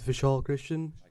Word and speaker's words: Vishal Christian: me testing okay uh my name is vishal christian that's how you pronounce it i'm here representing the